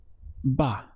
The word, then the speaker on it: va: Va. It looks like ba-a, but in the spoken language, often all you hear is ba.